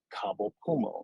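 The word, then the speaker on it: Cabo Pulmo: sitting with her and she told me about kabul puma that's spelled c-a-b-o-p-u-l-m-o i'm proud that i could actually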